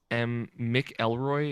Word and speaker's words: McElroy: That's Mick Elroy is like it phonetically pronounced.